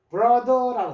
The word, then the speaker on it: brother: 브러더라고 하는데 브로 th가 요게 느 소리입니다. 돼지꼬리 발음이라 그러는데 우리나라에는 없습니다.